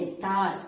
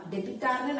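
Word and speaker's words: debtor: சோ அதனால cash account டெட்டார். டெபிட்டார்னு நிறைய பேர் ப்ரொனவுன்ஸ் பண்றாங்க, பண்ணாதீங்க. டெட்டார், கேஷ் அக்கௌண்ட் டெட்டார் அப்படின்னு சொல்லிட்டு 2 யாரு இங்க கிரெடிட் சரவணாஸ் கேபிட்டல் அக்கவுண்ட் அப்படின்னு வந்திருக்கு.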